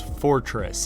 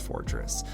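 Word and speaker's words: Forretress: Cavalier as well as Fortress I think that's how you pronounce it spelled kind of weird is not spelled like Fortress but it is I think pronounced Fortress this team is very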